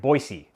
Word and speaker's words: Boise: boise first first step got to pronounce it boise and then they won't feel